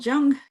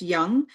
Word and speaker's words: Jung: psychology the name Carl Jung which I guess is pronounced Young came up during some